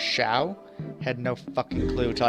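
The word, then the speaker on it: Xiao: So if anyone knows, because it's like in Dark Cloud, you know, Z-I-A-O or O-A, something like that, was pronounced Shao.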